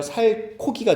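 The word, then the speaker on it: 살코기: 살 코기가 좋아요? 둘 다 좋아요. 나도 좋아. 둘 다 좋아. 적절하게 지방도 있어야 되거든. 근데 살 플러스 고기 하면 살고기인데 살고기라고 발음 안 하죠?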